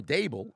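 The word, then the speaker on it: Daboll: surprisingly doing better with um Brian Dabble um or dable as it's pronounced as coach think about it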